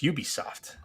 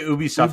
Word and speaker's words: Ubisoft: am soft yes uh no it's Ubisoft some people say Ubi stuff it depends on where you are in Canada